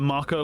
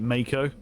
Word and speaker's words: Mako: I want to call it Marco like that too, but I think they pronounce it Mako.